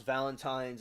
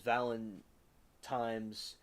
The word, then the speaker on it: Valentines: She says I pronounce Valentines as Valentimes as a kid and up. It seems weird to say it with an N sometimes instead of an M, but I've been training myself to say it right.